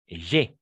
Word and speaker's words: j'ai: Et ici, on va prononcer « j'ai ». En effet, ici, c'est le « e » ouverte.